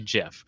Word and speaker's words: GIF: month and so uh he did invent the jiff and uh kudos to him and he will